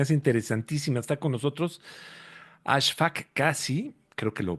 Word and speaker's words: Ashfaq Kasi: Está con nosotros Ashfaq Kasi, creo que lo pronuncié bien.